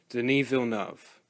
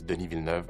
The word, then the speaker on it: Denis Villeneuve: mainly for one reason: Denis Villeneuve. Also, yes, that is how you pronounce his name. Here's a clip of him saying it. Hello, my name is Denis Villeneuve.